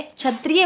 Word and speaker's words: क्षत्रिय: को कछ ठीक है ये छ जो है क्षत्रिय वाला छ है ये क और श से